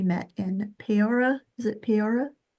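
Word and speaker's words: Peoria: Is it Peora? Puria. Yep. Every single vow pronounced.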